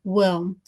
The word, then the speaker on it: WILM: I am CEO, co-founder, and daily manager of the European organization Women in Live Music, which I from now on will pronounce as WILM.